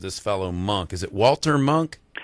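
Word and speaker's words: Walter Munk: Is it Walter Monk? Walter Monk is how you pronounce it in Austria, where he's from.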